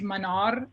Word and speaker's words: Manar: It's actually pronounced Manar in Arabic. So the R is rolled similar as it would be like in Spanish with the R's.